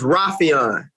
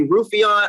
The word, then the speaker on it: Raufeon: everybody to know my name is rafian okay so a lot and and uh juan archuleta he feel like i hated him for a while uh the longest time i thought he was like mispronouncing my name and calling me roofeon on purpose so i probably did